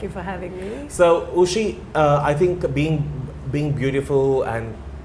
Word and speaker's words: Uschi: It's Uschi, but it's spelled.